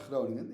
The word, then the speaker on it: Groningen: I love how you pronounce Groningen. It's very good. It's a nice G.